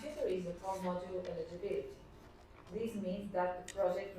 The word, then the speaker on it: eligibility: The accent is on B.